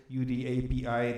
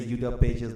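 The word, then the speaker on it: Udapi: You said UD API, that's definitely one of the correct pronunciations of that tool. I usually say UDA pages because I heard the author of the tool saying it that way.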